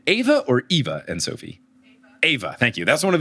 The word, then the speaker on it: Ava: Ava, thank you. That's one of those, like, it's spelled the same.